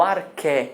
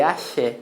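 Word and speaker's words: ἀρχή: O arché em grego, tá? Arché. Arché se escreve arché, mas não se lê axé. Não é o axé dos gregos, tá?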